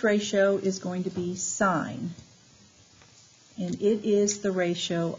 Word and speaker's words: sine: Then we have SIN, which is pronounced sine, capital long I.